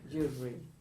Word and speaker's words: jewelry: basically it's jewelry yeah jewelry how many syllables listen close your eyes close your eyes jewelry in America me jewelry same two syllables Spanish and Italians add syllables isn't disease yeah okay